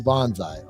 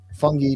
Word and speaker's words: fungi: thrives upon organic matter who Bonsai okay I said it wrong fungi Bonsai by lowering his